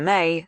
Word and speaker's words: Mai: With her talent for hooking any audience, May had brightened everyone's day from the first time she'd burst into the office with her effevescent greeting, spelling her name out, M ai, but pronounced like the month.